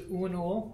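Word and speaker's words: Uanuiil: I used for my first account which was unul which a Celtic name u a n u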